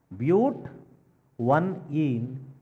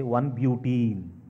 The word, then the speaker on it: but-1-ene: and 2, this butene, actual name we have to pronounce is but. One ene, but 1-ene, or you can say 1-butene.